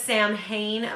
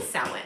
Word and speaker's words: Samhain: It's by Llewellyn and it's a Sabbath essential, and I know it says Samhain, but it is pronounced Samhain.